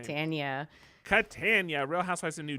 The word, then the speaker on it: Catania: Catania.